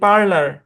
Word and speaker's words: parlour: PARLOUR উচ্চারণ কি? পার্লার। কি উচ্চারণ? পার্লার।